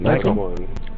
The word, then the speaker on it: Nyko: Nico, or Nyko, how do you say their name? Nyko. Was it Nyko? What's it spelled like?